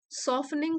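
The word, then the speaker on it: softening: दो हालांकि आई वास सॉफ निंग फ्रॉम इनसाइड टी यहां पर साइलेंट है सॉफ निंग सॉफ्ट से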